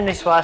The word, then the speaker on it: Niçoise: welcome to cook academy's tuna nisswa salad nisswa means native to the french city of nice niche is spelt like nice let me tell you this